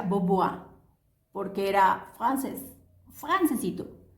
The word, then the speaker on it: Bombois: cambian woodward se escribe bomb boys pero se pronuncia board porque era francés france título entonces estamos listos